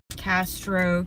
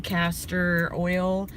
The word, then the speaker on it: castor oil: i poured the caster i hope i'm saying that right my husband said i was saying it wrong castro castor oil i put castor oil